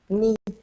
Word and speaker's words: knee: It's written phonetically, which means the way you say it is the way that it's pronounced. But with English, it can be different. Like, trying to think of an example. Knee.